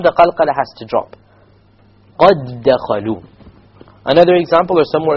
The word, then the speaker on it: قَدْ دَخَلُوا: You merge it so the qalqala is dropped. قَدْ دَخَلُوا.